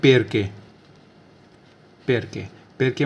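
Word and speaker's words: perché: जैसे for example हम देखें जैसे पैर के स्पेल है PERCHE, तो C के बाद क्या है, H है, तो CH को क्या पड़ जाएगा, कै, तो इसको बोलेंगे पैर के मतलब होता है क्यों, वाई, क्यों, वाई।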